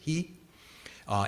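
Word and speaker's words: 悲: The other thing to point out, that Maitri character in Japanese is pronounced ji, and the Karuna character is in Japanese, the Chinese pronunciation is hi, and so jihi, jihi no bumo, right?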